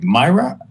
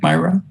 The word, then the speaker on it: Myra: be so mea and I hope I'm pronouncing your name correctly Myra you like Myra all right I'll stay with Myra I asked you once